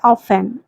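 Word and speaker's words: often: Next word है ऑफेन। Means अक्सर। वैसे स्पेलिंग तो ओ एफ टी ई एन होता है लेकिन टी साइलेंट होता है। इसे आप ऑफेन नहीं ऑफेन बोलेंगे।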